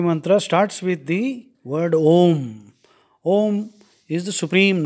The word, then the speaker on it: Om: for Mahesh so when we pronounce the word om the vocal organs Express these three qualities of God to say ah we have to open our mouth thus ah also is